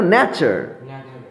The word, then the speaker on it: nature: তারপর দেখো নেচার, নেচার, NATURE, নেচার।